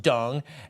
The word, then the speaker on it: Deng: Hunter, this is to confirm the DCM, Minister Deng, pronounced Dung, asked through a call that I received from Mr.